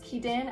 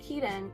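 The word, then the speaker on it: Kidan: When her sister June disappears, Kedan, I don't know if that's how you say it, Kaden. K I D A N Kaiden.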